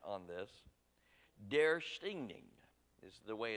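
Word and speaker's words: döstädning: and practiced my best Swedish accent on this dare stinging is the way it's supposed to be nouns pronounce their stinging and that word literally means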